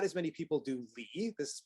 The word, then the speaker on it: Li: Like a lot of people have heard of Tao, but not as many people do Li. This is pronounced Li.